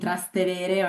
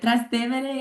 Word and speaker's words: Trastevere: Our students will be particularly living in a quintessentially Roman neighborhood called Trastevere, which maybe many of you have been pronouncing Trastevere or Trastevere. But Trastevere is one of the most